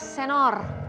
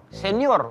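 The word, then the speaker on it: señor: Kalau saya ketemu Pak Wendy berarti saya panggilnya Senor, Tuan. Ih, emang dia dandan, Senor. Senor. Bukan senior. Bacanya bukan senior berarti.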